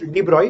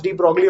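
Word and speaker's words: de Broglie: hypothesis के हिसाब से I know it is pronounce डीब्रॉय अह बट लिखते टाइम डीब्रोगली लिखते हैं तो आई pronounce it एज़ डीब्रोगली only so that spelling mistake now या अह बाय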